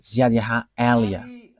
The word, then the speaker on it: Yahvah Eliah: that is my name, so I pronounce it as my father pronounced it, YAHVAH Eliah.